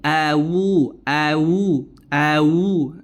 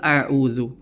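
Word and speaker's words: أعوذ: media sosial ini juga huruf Ain itu bagaimana pengucapannya makhrajnya juga di mana itu di tengah tenggorokan lebih menekan suaranya lebih menekan pengucapannya au au atau dia merubah menjadi huruf wau awu awu awu ini kekeliruan yang terjadi pada lafaz pada lafaz auudu ya kemudian juga tambahan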